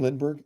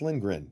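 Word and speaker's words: Lindgren: was awesome and and lingren was so far behind because Brad just froze him enough with that shot did I call him Lindberg it's lingren did I call him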